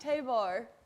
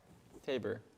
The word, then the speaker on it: Tabor: Hers is pronounced Tabor. Tabor.